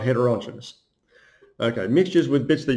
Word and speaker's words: heterogeneous: by the way but that doesn't say genius that isn't pronounced heterogeneous it's heterogeneous that actually says Janice I don't know why